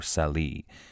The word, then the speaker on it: Salé: They arrived at a city named Salé, or Salih. The English pronounced it much like the name Sally.